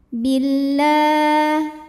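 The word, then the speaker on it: بالله: Sebab alif lam menghadapi huruf syamsiyah yaitu lam. Maka alif lam tidak perlu dibaca. Billah La mad tabi'i muqaddar karena ada baris fathah tegak di atas huruf lam.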